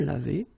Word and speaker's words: lavés: Nous nous sommes lavés. So remember, final S is not pronounced.